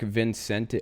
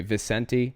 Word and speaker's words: Vicente: is New York Times in late 2015 Marc Vincent I'm sorry vicente then a senior member of the cult light